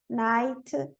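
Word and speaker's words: knight: K is always silent in the word initial spelling sequence. K-N. Não, sempre na KN, o N não é pronunciado como Neil, Ni, Nob, Night, Nave, Knowledge, Knife, Knock.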